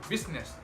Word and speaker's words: business: Good news, I is not usually silent. It's usually pronounced, except in the word business.